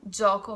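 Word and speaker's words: gioco: a or E it's soft for example Jaakko joka means game or genoa is the city the pronunciation is soft G J Y followed by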